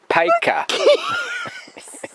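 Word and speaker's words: Paika: k for car hey p-i-k-a p-a-i-k-a which is pronounced paco uh i don't know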